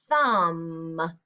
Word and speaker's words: thumb: Thumb is actually the answer D because thumb, you don't pronounce the B.